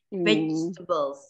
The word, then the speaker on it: vegetables: Nah, ini juga nih vegetables, tengahnya nggak dibaca.